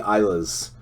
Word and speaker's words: Islay: There's another, but pretty much anything that is any of the Islas. It's spelled Islay, but any of the Islas, I am a big Isla junkie.